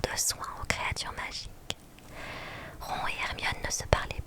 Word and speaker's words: Ron: Je profite de cette petite pause pour repréciser en effet que je prononce mal le nom de Ron qui se prononce normalement Ron.